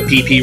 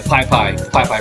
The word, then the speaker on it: Pai Pai: Yeah, Pai Pai River. I said it wrong.